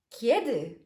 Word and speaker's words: kiedy: Notice it's quite soft. Kiedy. Kiedy. It's a soft sound. So phonetically, the way we construct it, it kind of sounds like the Polish J letter. Y, okay? J, Y, because we say kiedy.